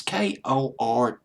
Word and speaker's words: Kortchmar: But I just found out that Daniel Korchmer, it's Kortchmar.